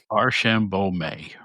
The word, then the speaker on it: Archambeault: Arshambo. Thank you. I mean, I pronounce it one way.